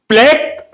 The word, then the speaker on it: plaque: ये दो तरह से प्रोनाउंस किया जाता है friends. प्लेक एंड प्लक like लिपोप्रोटीन लाइपोप्रोटीन both are correct प्लाक is correct प्लक is correct I